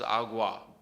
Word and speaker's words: agua: Aquí, it's a very similar word, has a U in it, but it's pronounced completely differently. Aquí versus agua. The wa is that difference.